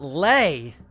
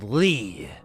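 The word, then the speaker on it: lei: Because in this video, it's not Lay, it's Lee. Like Stan Lee.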